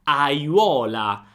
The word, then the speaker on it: aiuola: Aiuola. Auola. Vedi, ho pronunciato tutte le vocali.